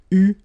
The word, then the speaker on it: eu: It will become EU, so you will have to write this participe passé form like that. Okay, but you will have to pronounce it U.